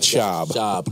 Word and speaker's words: Schaub: I just wanted to tell you, from Houston, it is pronounced Matt Schaub, not Schwab. That was Marques Johnson. Matt Schaub.